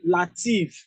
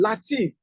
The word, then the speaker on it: Latif: a t i f he was calling lative lative lative lative now the guys are CAU this C man beat him did not hear Latif guess what they